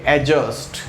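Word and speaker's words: adjust: अरे मेरे भाई वो एडजस्ट नहीं होता, ए और जे के बीच में लिखा हुआ डी नहीं पढ़ते हैं तो क्या बोलेंगे, एडजस्ट। क्या बोलेंगे दोस्तों, एडजस्ट, इट इज़ नॉट एडजस्ट। ठीक है, तो ध्यान रखें कि डी प्रोनाउंस नहीं होता है।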